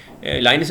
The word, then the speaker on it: Linux: इसको लाइनक्स भी पढ़ते हैं लोग, लिनक्स भी पढ़ते हैं, लेकिन जो मशहूर प्रोनाउंसिएशन है वो लिनक्स ही है।